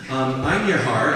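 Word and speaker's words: Einherjar: Ein Har is how it's pronounced, and in Norse mythology, good luck to me on getting all my pronunciations.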